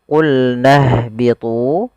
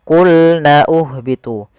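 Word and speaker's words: قُلْنَا اهْبِطُوا: Di sini kita langsung ke huruf ha yang disukunkan. Jangan sampai kita membacanya qulna uhbitu. Pada lafal ini, ini tidak dibaca qulna uhbitu.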